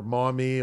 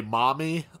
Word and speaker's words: Maumee: I'm going to say, Stephanie is going to be stoked that you pronounce Maumee correctly. Oh, I did. I think a lot of people say Maumee, like, you know what I'm saying?